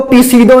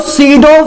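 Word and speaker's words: pseudo: guys इसको पी सीडो नहीं बोलते, मतलब पी साइलेंट है, पता नहीं कैसी क्या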